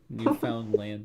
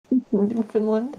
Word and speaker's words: Newfoundland: Newfoundland, yes. Newfoundland. Newfoundland. It's newfound. We found a new land.